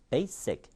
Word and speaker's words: basic: make it, bake it, basic. 다음이 똑같아진다는 얘기예요. 그러니까 basic이라는 한 단어를 발음할 때나 may에다가 이가 붙은 두 단어가 연음이 될 때나 억양이 똑같아진다는 겁니다.